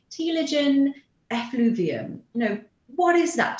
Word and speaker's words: telogen effluvium: known as, I think I'm pronouncing it correctly, telogen effluvium. You know, what is that term and what does that have to do with hair loss? Right. So telogen effluvium is actually a very common form of hair